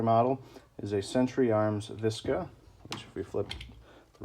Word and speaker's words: VSKA: is a century arms visca which if we flip the rifle over as you can see vska or visca as i believe how they pronoun pronunciate it a little bit of